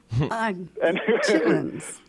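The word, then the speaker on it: chitterlings: That is totally spelled different than the way it's pronounced.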